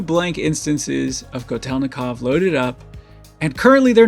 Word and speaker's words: Kotelnikov: I'm gonna be using TDR Kotelnikov.